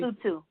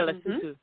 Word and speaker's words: Lesotho: Am I pronouncing it correctly? Lesotho. Yeah, Lesotho.